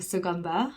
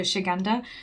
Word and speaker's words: Suganda: asked me to review suganda and i always pronounce it wrong my mom always tells me off because i call it shiganda it's like no i